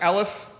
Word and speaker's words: Elliff: line right now is your last name pronounced aleph that's right all right ellis